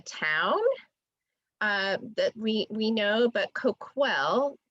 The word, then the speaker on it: Coquille: So, and then just a note, Coquille is the town that we know, but Coquille, think of, there's a KW in the middle, is how you actually pronounce the tribe.